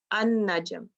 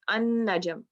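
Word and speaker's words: النجم: Okay, because see, you will not be pronouncing the lam, an-najm. So you merge it, an-najm.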